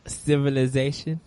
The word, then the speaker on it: Civilization: You're missing the Z in your pronunciation of that, and it makes me giggle. Civilization. There you go.